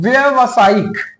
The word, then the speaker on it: व्यावसायिक: व्यवसायिक ये सही नहीं है। आ इसका सही वर्तनी क्या है? आपको व्यावसायिक व्यावसायिक ठीक है? देखिए यहां पर एक मात्रा की कमी है।